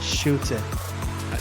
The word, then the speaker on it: Schutte: I'm your host Ryan Anthony Ernnandez and today I'm here with special guest Shoot. Did I pronounce that correctly? You did indeed. It's a South African name.